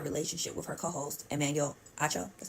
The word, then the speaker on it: Acho: Joy had a relationship with her co-host Emanuel acho that's how you say his name and that